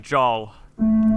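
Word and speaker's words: Jaal: noad oh he's adorable Aaron Flynn says that they pronounce it Joel Joel Oh yay yeah does it have does he spelled out phonetically yeah jaw and L so jaw yeah he spells it jaw L ja are you sure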